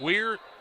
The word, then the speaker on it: Weir: Is it Weir, W-I-E-R or W-E-I-R? I think it's... We'll try to pronounce it right, though. It's Weir either way, but I think it is spelled incorrectly there.